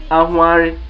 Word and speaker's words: Ahware: Then there is one word too that I quickly want to ship in that sounds like this HW, or it is pronounced using this HW diagram, though it does not really possess this HW diagram, but it is pronounced using this HW diagram. And what is that word? It is Ahware.